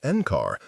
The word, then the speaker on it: NCAR: Locals still referred to the complex as Encar, pronounced Encar because of its 25-year stint as the National Center for Atmospheric Research.